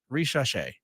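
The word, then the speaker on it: Risacher: The Hawks picked Francis Zachary Richache, which both of us butchered that name big time until we had our guest on in the last segment.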